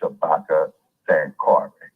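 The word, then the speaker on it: Shabaka Sankore: n k o r e the name is pronounced Shabaka San Cary and the University of San Cary okay which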